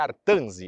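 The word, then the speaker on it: Artense: o grafito ou artzi a pronúncia correta é artzi esse aqui é o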